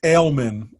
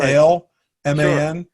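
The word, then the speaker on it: Alemán: his name is is in english is ailment like bailmen or like spelt like uh the beer ale man and in spanish it's aleman and i actually met when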